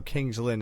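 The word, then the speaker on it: King's Lynn: Welsh want to know Kings Linn is pronounced Kings Lin okay good well if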